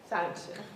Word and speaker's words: Sonnenschein: Association of Insurance Commissioners, Mr. Sonnenschein, I believe. Pretty close. Is that good? Good enough. Okay. Sonnenschein, you pronounce it for me. Sonnenschein.